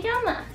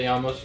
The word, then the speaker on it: llamas: I'd be like, ¿Cómo te llamas to you? Baby, how do you pronounce that double L? It sounds like a Y, but it looks like a llama.